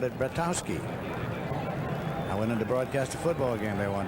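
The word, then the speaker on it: Bratkowski: And I went to the locker room one day and said, "How do you pronounce your name?" He said, "Brattowski."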